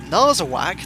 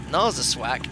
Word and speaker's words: Narsarsuaq: This is apparently how you pronounce our destination. No, what? Narsarsuaq? That's not correct. Narsarsuaq.